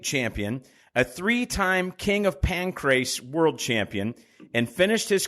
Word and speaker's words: Pancrase: And you pronounce the word pancrase good. Like everybody, they call it like the pancreas or something.